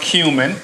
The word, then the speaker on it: cumin: We have a little bit of cumin, and it is pronounced cumin.